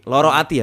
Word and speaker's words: Lara Ati: Tadi lu bahas tentang Lara Ati, Loro Ati ya, bacanya Loro Loro Ati.